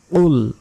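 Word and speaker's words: قُلْ: কাফের কুল কুল এখানে কুল বলা যাবে না কুল মোটা উচ্চারণ হবে কফ অক্ষরটি কুল ইয়া তিন সেকেন্ড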